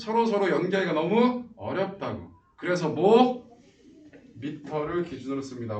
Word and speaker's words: 미터: 미터. 야 메다라고 읽지마. 이건 일본식 발음이야.